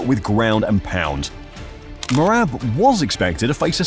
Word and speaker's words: Merab: greatness mojab what how you say his name morab oh morab man he the man you know um he